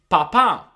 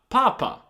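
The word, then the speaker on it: papà: Now it is very important to pronounce this word correctly because you want to say papa, not papa.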